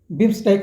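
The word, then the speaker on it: BIMSTEC: 6वां Bishkek शिखर सम्मेलन, बिम्स्टेक होगा, थोड़ा सा उच्चारण अशुद्धि है।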